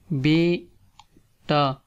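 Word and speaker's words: بیٹا: Here we have son and daughter, beta or beti, beta, beti. First say be and then say ta, beta, like in here beta mean son and beti mean daughter.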